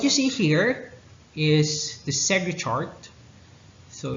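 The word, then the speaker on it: Segrè: nuclei and what you see here is the sega chart so it's spelled as uh s-e-g-r-e so your sega chart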